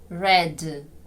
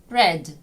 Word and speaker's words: red: цією схильністю треба боротися не оглушуйте дзвінки приголосні в кінці слів вимовляйте їх чітко red red Bed Bed Leg Leg